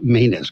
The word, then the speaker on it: Manus: Penelope Rose Manus. Grandma called and made me correct that. So it's pronounced again. Manus.